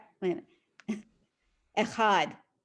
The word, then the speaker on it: echad: In general, Hebrew words are accented on the last syllable. That's a So rule of challah. thumb, so to speak. So it's challah, lechem, minucha, echad.